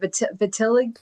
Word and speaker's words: vitiligo: Vitiligo?